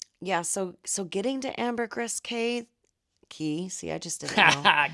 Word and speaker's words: Caye: Looks like Caye, C-A-Y-E, but it's pronounced C-A-Y-E.